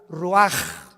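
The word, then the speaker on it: רוח: Roach así como suena se pronuncia la c en hebreo como J ruaj se le só y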